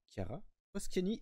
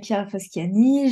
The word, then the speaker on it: Chiara Foschiani: toi justement qui es-tu Kiara poscci et est-ce que je prononce bien s'il te plaît je ne refuserai d'écorcher les prénoms c'est parfait c'est parfait alors bah bonjour à tous je m'appelle Kia fasciani j'ai 20 ans je